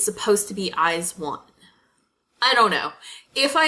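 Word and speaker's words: IZ*ONE: they produce 48 group I believe it's pronounced eyes one it's felt eyes II some like little symbol and then one but so it makes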